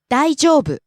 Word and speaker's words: 大丈夫: 大丈夫、大丈夫、 Rises on the second syllable, e, falls on the second to last syllable, u. 大丈夫、 Next, また、 again.